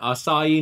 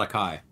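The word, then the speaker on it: açaí: Google and type in assai near me it's spelled AC AI it's not a Kai yeah Brazil I wish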